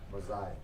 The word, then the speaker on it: Messiah: How do you pronounce the quarterback's name? Messiah.